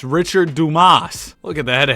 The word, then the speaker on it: Richard Dumas: I learned how to pronounce this dude's name. It's Richard Dumas.